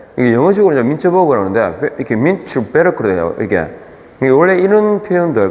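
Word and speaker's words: Mintzberg: 빙벽 할 때 그게 요 구텐베르 무슨 베르크 이렇게 이게 독일식 발음이에요. 얘가 민츠버그 할 때 이게 영어식으로 민츠버그라는데 이렇게 민츠베르크로 돼요.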